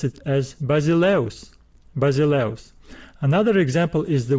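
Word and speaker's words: βασιλεύς: letter in the diphthong but we do not pronounce this word as basily use basily use no we pronounce it as basileos basileos another example is the word paulus we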